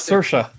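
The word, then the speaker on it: Saoirse: it's challenging consortium challenge he says sorcerer not sercia corresponds now she's been on every late night talk show pronouncing it correctly you have no excuse for sir which is what it looks like spells yeah sir rice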